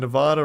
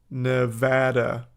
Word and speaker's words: Nevada: onetime thing as an Nevada resident it's pronounced Nevada not Nevada n you don't know what